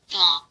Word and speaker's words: thaw: thaw, thaw, thaw, 자, 발음 어떻게 하냐면요. 이와 이 사이에 혓바를 넣으면서 so.